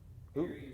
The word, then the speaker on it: Airy: And I know Airy is A-I-R-Y. Like Erie.